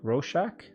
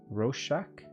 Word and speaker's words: Rorschach: right but anyways um oh it's pronounced rorschach roshack roshack i always like the